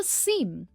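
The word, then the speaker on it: seam: हमारा next confusing pair है सीम और सीम। दोनों की प्रोनाउंसिएशन सेम है, सीम। दोनों में डबल ई साउंड है, सीम।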